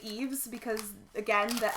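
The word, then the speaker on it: Yves: Well, and I've mentioned this before too, but I cannot mentally get past Eve. Like, every single time I want to say Ives so much because the Y-V-E-S I immediately think of as Ives and not Eve.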